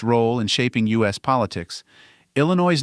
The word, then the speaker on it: Illinois: The French explorers who first encountered the Illiniwek adapted their name, adding a silent S at the end to fit French spelling conventions.